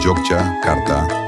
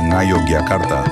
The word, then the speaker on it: Yogyakarta: Dalam penggunaannya sehari-hari, Yogyakarta lazim diucapkan Jogjakarta atau Ngayogyakarta bahasa Jawa.